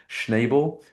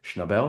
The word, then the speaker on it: Schnabel: It's directed by a great director, Julian Schneabel, Schnabel, excuse me.